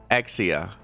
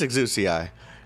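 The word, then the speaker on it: Exusiai: Exia is the Japanese pronunciation. Bruh, we're not in Japan. It's Exuci.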